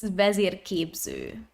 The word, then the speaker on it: Vezirképző: So it's pronounced as Vezirképző. Oh.